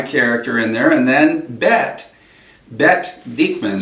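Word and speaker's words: Bette: And Jack Garrison is the main American guy character in there, and then Bet Diekman. So it's not Betty. Yeah, you know, in Israel it's Bet.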